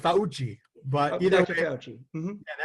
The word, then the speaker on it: Fauci: It's actually pronounced Fauci.